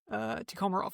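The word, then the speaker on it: Tikhomirov: Tikhomarov, I think is how you pronounce his last name.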